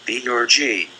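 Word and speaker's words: theurgy: magic the result was the orgy pronounced the orgy this new art which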